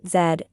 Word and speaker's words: Z: Note the letter Z is pronounced zed in most English-speaking countries including the United Kingdom, Canada, Australia, New Zealand, India, and Ireland.